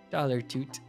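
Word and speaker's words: Dollar Tute: He didn't even spell it like the fart. He spelled it T-U-T-E, like it rhymes with flute. Dollar Toot.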